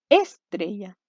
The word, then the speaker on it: estrella: Estrella. ¿Dónde estaba la sílaba tónica? Al medio, en grave, ¿cierto?